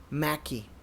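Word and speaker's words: Méqui: are certain places that actually have it called mackie which is spelled m-e-q-u-i and you can look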